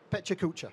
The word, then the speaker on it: PechaKucha: Pechakucha.